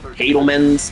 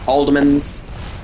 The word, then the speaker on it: Haldeman's: I pronounced it Hadelman's. It's pronounced Haldeman's.